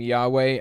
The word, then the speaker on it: Yahweh: the letters y and J are equivalent sound the same as are W and V think German if you spell the name Yahweh as jhvh and add